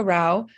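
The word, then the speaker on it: Rouch: so again the next uh speakers are Roush and Christy Haas Howard whenever you're ready hello uh Rao is spelled r-e-b-e-c -a-r-o-u-c-h thank you for the opportunity to testify my name is Rao I am a volunteer with Mom's clean air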